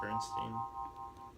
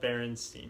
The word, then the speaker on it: Berenstain: Is it Berenstain Bears? Well, I just think most people just say Bernstein. It's It's spelled Berenstain, yeah, but it's just people always. No, it's Berenstain.